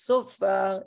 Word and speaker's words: shofar: Jewish ritual items, sofar instead of shofar, it is adapted to the Hebrew words and Aramaic words are adapted to the Judeo-Arabic phonology, okay? To the way that you pronounce Arabic.